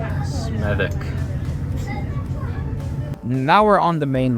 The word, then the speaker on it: Smethwick: This is pronounced Smethwick. Smethwick.